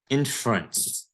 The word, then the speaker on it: inference: Next one, inference. Remember, this E here is silent.